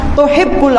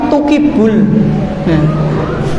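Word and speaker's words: تُحِبُّ: Bukan tuhibbu tapi tukibul. Tukibul afwa fa'fu anni.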